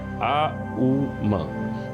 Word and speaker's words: ओम: नाभि से निकलनी चाहिए तो जब आप ओम का उच्चारण करते हैं तो उसके उसके जो लय है वह कुछ इस प्रकार है आ उ म तो उसको आप मिलाएंगे